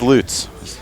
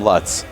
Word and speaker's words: Lutz: Lutz coming up and it is loots a lot of people like to call them Luts that is not the pronunciation it's another young man